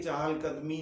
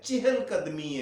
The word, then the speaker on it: چہل قدمی: اس میں غلطی یہ کرتے ہیں کہ یہ چہل قدمی نہیں ہے، چہل قدمی ہے. یہ چے کے نیچے زیر ہے، فارسی کا لفظ ہے، فارسی زبان کا لفظ ہے چہل.